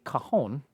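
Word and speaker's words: cajon: Um, you know, Josh is back there playing a kahon right now as they're they're pronounced.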